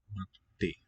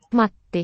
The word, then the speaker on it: Matti: Matti. There you hear that little bit of silence in the middle of the word. Matti. That means we have a double consonant. Matti.